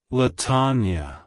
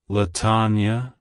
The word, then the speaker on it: Latonya: It's pronounced as Latonya. Latonya. Latonya. To pronounce it correctly, emphasize the THN syllable and make sure to pronounce the ya at the end with a soft sound.